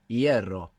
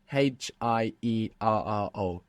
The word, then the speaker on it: hierro: So they look totally unrelated, but if you know that the F became a silent H and that the E split into IE, you can see the connection between hierro and ferrocarril.